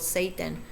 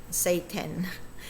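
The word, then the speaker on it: SAY10: The song is called Satan, as is spelled say and then the number 10, Satan.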